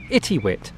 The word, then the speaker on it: Itiwit: right this is uh i think it's pronounced itty wit so i think the